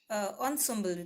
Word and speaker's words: ensemble: Okay, and ensemble, it's here ensemble. That's how we pronounce it.